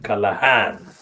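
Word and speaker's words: Callaghan: don't use the pronunciation callahan because i use the pronunciation as i find the spelling which is kalagan in the in october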